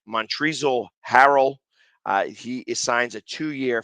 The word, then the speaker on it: Montrezl Harrell: i want to say his name right it's montrezl harrell uh he assigns a two-year 5.2 million dollar